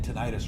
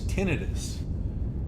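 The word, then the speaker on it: tinnitus: It It makes me um It makes me feel like my um my friend told me I was saying tonitis wrong. Apparently, it's tinidis. That's like the medical pronunciation.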